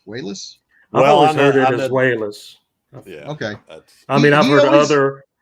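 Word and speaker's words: Walas: and chris uh is it i always say wallace so it's it's pronounced wayless wells i mean i've heard other other directors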